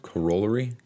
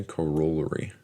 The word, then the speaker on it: corollary: Corollary? I think that's the word I came across earlier today. Corollary. That's how I was pronouncing it. So I came across a word earlier. It was Corollary.